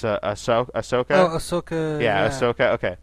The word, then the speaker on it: Ahsoka: The character of Luke Skywalker's Padawan, I always pronounce her name wrong. It's Ahsoka.